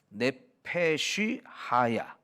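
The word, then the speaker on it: נפש חיה: 히브리어로 이 생기라고 하는 말은 니시마트 하임, 니시마트 하임 이렇게 말하고, 생령이라고 하는 단어는 네페시 하야, 네페시 하야 이렇게 발음이 되는 단어인데요.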